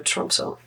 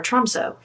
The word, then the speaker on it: Tromsø: If you are planning to go to Norway, you gotta go to Tromsø. And that's how they pronounce it, kind of. My Norwegian's not very good. Or Tromsø, if you're Canadian like me.